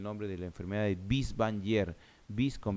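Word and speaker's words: Binswanger: Y esa demencia multiinfarto tienen el nombre de la enfermedad de Bies-Wanger.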